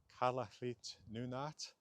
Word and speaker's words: Kalaallit Nunaat: In Kalaallisut, the Greenlandic language, of course, uh from a different language family entirely, the name of the land is Kalaallit Nunaat.